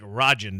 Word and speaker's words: Rajan: here on his Twitter it's pronounced r-a-h-j-i-n so it sounds like Rajan to me Greg Rajan um but he says